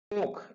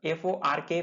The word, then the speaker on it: fork: Fork. F-O-R-K. Fork. Fork. R is silent here.